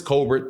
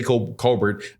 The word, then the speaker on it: Colbert: Chris Colbert's uh Chris Colbert people say Colbert I read it the way that it's written like Colbert like because it's French I don't know if